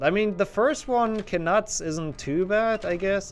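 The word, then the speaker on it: Knuts: Can nuts? I guess that also works. I mean, I still think they are actually pronounced kuts.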